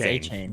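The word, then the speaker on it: Achane: I think he changed the way he pronounces it, Acne or Achne, whatever. A-Chain. I think it's A-Chain.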